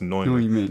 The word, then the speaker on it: Neumann: It's pronounced Neumann. I was like, oh, okay. Because it looks like Newman. I'm like, hey, that's a Newman.